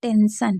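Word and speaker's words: tension: सा ही पढ़ा जाएगा लेकिन टी को हम टा नहीं पढ़ेंगे श पढ़ेंगे क्योंकि टी आई ओ एन होगा तो उसे भी श ही पढ़ा जाएगा ठीक है तो क्या हो जाएगा टेंशन तो ये आपको समझ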